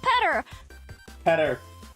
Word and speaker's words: Peter: Peter's name should be pronounced Petter, actually. True. It comes from the Greek Petros.